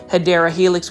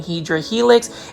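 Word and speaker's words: Hedera helix: saying um hedra Helix that is actually the mispronunciation of hyera Helix which is the correct way of saying it um when I was originally doing shopping videos I was actually saying hedra Helix and then I had a viewer plant foldy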